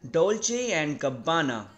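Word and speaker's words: Dolce & Gabbana: तो इसका full name है डोल्चे एंड गब्बाना, right, डोल्चे एंड गब्बाना। तो आप इसको ऐसे प्रोनाउंस करेंगे, डोल्चे एंड गब्बाना, right, डोल्चे एंड गब्बाना।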